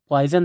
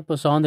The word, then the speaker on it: Poisson: इसको नॉर्मली गलत प्रोनाउंस किया जाता है और लोग नॉर्मली इसको पॉइजन रेशो कहते हैं। ये पॉइजन रेशो नहीं है बल्कि ये पोसॉन रेशो कहते हैं इसको।